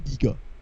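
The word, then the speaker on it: Giger: if i remember correctly it's supposed to be giga right supposedly yeah right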